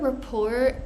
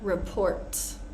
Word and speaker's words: rapport: listen Rapport Ricochet soften notice that the word rapport is not report right report is a